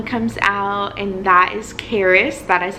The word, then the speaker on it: Karis: So I push and baby A finally comes out, and that is Karis. That is how you pronounce his name, Karis.